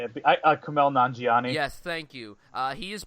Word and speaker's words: Kumail Nanjiani: Now, this is a new indie romantic dramedy that comes from, oh god, I can't pronounce his name. The guy that plays... What? I can say it. Kumail Nanjiani.